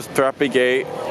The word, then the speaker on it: Thapae Gate: taken a long long time so strappy gait that's how you pronounce it pretty popular hangout place for foreigners